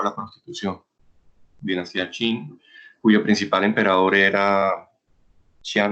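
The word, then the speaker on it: Qing: mataran para dejarlo alguien sin escribir kings pero se pronuncia chin fue muy poderosa llegó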